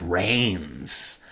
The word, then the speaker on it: Reigns: up with Luther Reigns they don't spell it r a i ns or anything no it's Reigns like he's going to reign in the WWE Kingdom right right and you